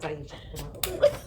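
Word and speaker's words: Eisha: whose name was Aisha, but it was spelled E-I-S-H. Oh, wow. Yeah, but it was pronounced the same.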